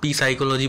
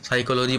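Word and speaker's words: psychology: पढ़ता है उसके लिए वो पी साइकोलॉजी पढ़ता है, जबकि साइकोलॉजी पढ़ा जाता है पी साइलेंट रहता है।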